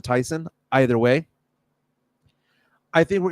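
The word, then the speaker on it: Thiessen: Tiffany Amber theas again everyone pronounces it Theos but I believe she pronounces it Tyson either way I think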